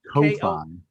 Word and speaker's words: Ko-fi: Also, I am being reminded in real time in the Twitch chat window that we also have, is it pronounced coffee? That site? it's Ko-Fi.